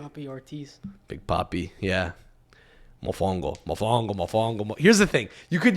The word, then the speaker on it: mofongo: The emphasis is on a different syllable. Contra ca, as opposed to mofongo, right? It's more on the second It's on the second syllable, but you're gonna have to make it work.